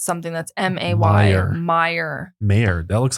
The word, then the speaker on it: Mayer: it as an ey John Mayer spells it yeah and he pronounces it mayor not Mayer John nevermind yeah I don't